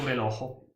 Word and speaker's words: relógio: La R non si legge neanche. O meu relógio. O meu relógio. O meu relógio. O seu relógio. Seu relógio. Allora dice relógio. Mi sembra la R tedesca. Non è la R Como tedesca.